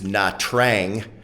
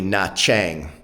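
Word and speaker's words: Nha Trang: n, separate word t, which in Vietnamese tr is pronounced cha, not tra. So, if you've looked at the uh coastal city of of what you might think is Natrang, it's actually Nachang.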